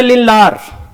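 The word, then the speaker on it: Lindlar: लगा रहे बालक लिंडलर कुछ लोग ड डी को बालक साइलेंट समझते हैं और पढ़ते हैं लिलार तो जैसा भी पढ़ोगे बालक मतलब वही रहेगा बस पढ़ने का अंदाज अपना अलग अलग हो सकता है तो लिंडलर कैटालिस्ट है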